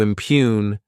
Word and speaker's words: impugn: To impugn this word has two syllables and the stress is on that second syllable.